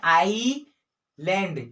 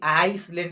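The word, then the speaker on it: island: जब एस जो है आई और एल के बीच में हो, तब जो है एस साइलेंट हो जाता है। देखिए यहाँ पर एस जो है वो आई और एल के बीच में है, तो एस जो है साइलेंट हो जाएगा। इसको क्या बोलते हैं, आई लैंड, ठीक है, क्या चीज, आईलैंड, है ना। स को नहीं पढ़ते, एस को नहीं पढ़ते कि आइसलैंड, इस प्रकार से नहीं, आईलैंड, है ना,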